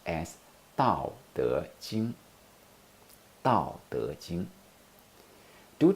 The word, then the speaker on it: Tao: know is it a fourth tone now ow Tao Tao Tao forth on the is in the